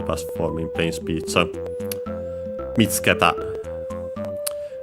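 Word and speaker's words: 見つけた: Technically, the accent will be on the tsu, because it's for the ta and te forms are on the third to last syllable. Here I'd say technically better on the fourth to last, so actually the first one, because the U of tsu is barely heard if at all, and for most people,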